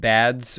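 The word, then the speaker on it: Bad$: just want to say my name is pronounced bads or bad dollar ah okay i'll call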